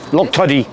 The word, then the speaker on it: Loctudy: Hey, what do you pronounce this place? Loctudy. Loctudy. This place? Loctudy. Yes. Yeah, that's how you pronounce it.